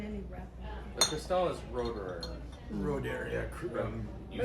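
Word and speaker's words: Roederer: The Cristal is Roderer.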